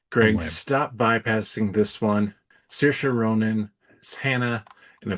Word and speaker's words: Saoirse: I just want you to pronounce this name for me, Greg. Oh, what have I said? Hold on. Saoirse Ronan. Saoirse.